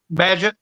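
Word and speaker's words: Bagent: Badgett.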